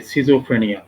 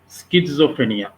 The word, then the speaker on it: schizophrenia: Disease, সেটা হচ্ছে গিয়ে সিজোফ্রেনিয়া। হ্যাঁ, সিজোফ্রেনিয়াকে এটার নাম সিজোফ্রেনিয়া আমরা বলি, অনেকে আমেরিকান অ্যাকসেন্টে উচ্চারণ করে যে স্কিজোফ্রেনিয়া।